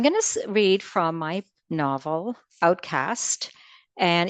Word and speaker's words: Outcaste: read from my novel Outcast and even though there's an e on it uh the pronunciation is just cast like um so it's uh a little misleading that way but um this